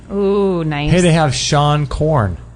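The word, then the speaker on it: Seane Corn: nice hey they have Shan corn is that how you say her name oh yeah the yoga Shan Korn Shan corn s e a n e that's right she's got the world's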